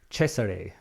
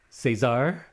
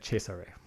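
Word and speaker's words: Cesare: That I am 90% sure is how you say it, right? I used to always think Cesar Caesar or Cesar, but I believe the Germans said Chesare.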